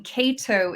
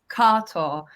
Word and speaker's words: Kato: so with my name Cato is my evolved American name the actual pronunciation is carto um and it comes